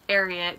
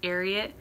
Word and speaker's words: Ariat: It's pronounced Ariat because I read the bio and they named the company after a secretariat. So like Secretariat, Ariat.